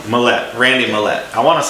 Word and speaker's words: Millet: I say Mlette. Mallette.